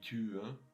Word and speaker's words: Tür: Die Tür, which is a one-syllable word, and one-syllable words are always kind of long, so die Tür.